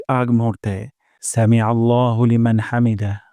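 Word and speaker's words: حَمْد: সাউন্ডটা নিচের দিকে যাবে হামদ হামদ আর হা উচ্চারণ করবো গলার মাঝখান থেকে হামদ রব্বানা ওয়ালাকাল হামদ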